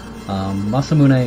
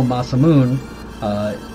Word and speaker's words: Masamune: muscle moon or Masamune Masamune is actually the correct Japanese pronunciation so that's what I tend to go over there although Masamune is the English pronunciation